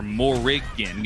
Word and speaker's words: Morrigan: But talking about that Morgan, right? I mean, she or Morrigan, add the extra syllable there, but, you know, she does have those defensive options.